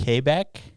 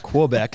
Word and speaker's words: Quebec: Quebec. There you go. Closer. Qua. It's not Quebec, that's for sure. Well, quu is a qua sound, right? We're not French.